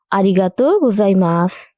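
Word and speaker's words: ありがとうございます: তাই দীর্ঘ উচ্চারণের ক্ষেত্রে আমরা এই চিহ্নটি ব্যবহার করব। বোঝা গেছে? তাহলে আমার সাথে বলুন। আরি গাত গোজাই মাছ আরিগাত গোজাই মাছ আরিগাত গোজাই মাছ আর আজকের শেষ শব্দ দুঃখিত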